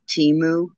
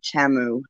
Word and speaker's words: Temu: Yeah, I'm just gonna do an unboxing, a review of a new, relatively new website called Temu or Temu, depends on who you listen to, how it's said, but it's T as in Tom, E, M as in Mary, U.